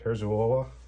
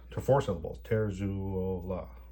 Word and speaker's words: Terzuola: I'm pronouncing it the way I have heard him pronounce it, Terzuola. 4 syllables. Terzuola.